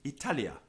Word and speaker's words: Italia: example Virgil mangles Italia it should be Italia with a short I but Virgil prolongs the first eye and not only that